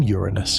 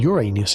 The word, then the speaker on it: Uranus: displacement, but the name Uranus in English is associated with a persistent problem, or rather, an endless source of schoolyard jokes. Its pronunciation is, unfortunately, very similar to the phrase, your anus.